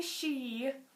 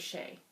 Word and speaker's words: Shea: And John Shea, is that how you say it? Mm-hmm. I thought it was Shay. S-H-E-A?